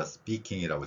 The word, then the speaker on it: speaking: 그러면 Speaking이 아니라 Speaking이라고 제가 밑에 적어놨습니다. 이 표기를 보면은 S를 슈옷으로 했고요. P는 쌍비읍으로 표기되어 있습니다. 자, 왜 그러냐면은 영어의 의문 현상 중에서 S 뒤에 P가 나오면은 우리말 쌍비읍 소리가 납니다.